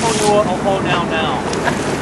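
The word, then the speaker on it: Puʻuhonua o Hōnaunau: So because it lives here in Honau Nau Bay, the full pronunciation of this particular Pu'uhonua is Honua o Honau Nau.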